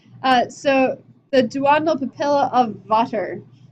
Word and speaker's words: Vater: So the duodenal papilla of Vater, V-A-T-E-R instead of Vader, but pronounced similarly.